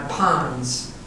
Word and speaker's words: pons: a stroke in my pons, pronounced like the Fonz, whom my sister Norma loved a lot.